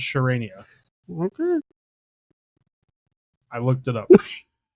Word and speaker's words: Charania: No, I looked it up. It's Shams Charania.